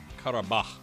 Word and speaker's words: Qarabağ: just looked up up it's Qatar bah I believe is how you say it so I've got the